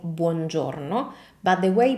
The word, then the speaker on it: buongiorno: As you can see, we have quite a few vowels in this word, as it happens with most Italian words. And the point with vowels in Italian pronunciation is that, as I always say, they are the pillar of correct Italian pronunciation.